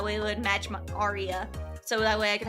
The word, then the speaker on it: Aria: Should I do my full name and then just pronounce it as Arya?